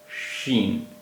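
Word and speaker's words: شین: तीन बिंदियां होती है शीन इसका उच्चारण हिंदी के श जैसा होता है शीन शीन येय शीन भी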